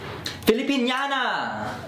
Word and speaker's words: Filipiniana: Filipiniana. That's how you say it? Yes. Filipiniana. Yeah, she's wearing the Filipiniana dress.